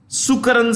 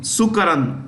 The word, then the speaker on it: Sukaran: CEO of Tata Advanced Systems is Sukaran Singh. Sukaran, S-U-K-A-R-A-N.